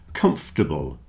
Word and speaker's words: comfortable: You see the OR in the middle isn't sounding. Comfortable, vegetables, chocolate.